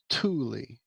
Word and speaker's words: Thule: From what I'm seeing, Cammy, it's a hard T and it's Thule for Thule? Thule. Thule, yeah, with a hard T.